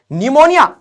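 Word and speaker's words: pneumonia: लगाओ नी ये के जबरदस्ती लगाना पड़ेगा के साइलेंट है नी ओके निमोनिया तो ये ऐसे हो जाएगा अरे ये तभी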